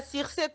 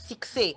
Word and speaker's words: succès: Kistar et Baby, Barbara Circe, Barbara succès, en fait. On prononce succès. On dit jamais Circe. On dit succès, hein, demoiselle. Hein, ça se prononce comme ça, succès, et non Circe.